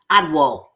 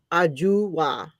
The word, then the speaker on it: Ajua: It looks like Adwo. No, Ajua. With a J.